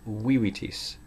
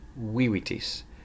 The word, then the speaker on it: vivitis: Notice that it's a short I, so it's vivitis, vivitis. Stress accent on the first syllable.